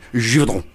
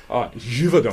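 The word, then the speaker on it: Givaudan: Can you say it properly, please, Barry? Givaudin. Givaudin. Thanks, thank you. It's Swiss, you see.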